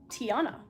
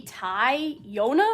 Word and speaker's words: Tiana: say my name correctly seems pretty self-explanatory Tiana how else do you pronounce it maybe Ty Yona or something I don't know modding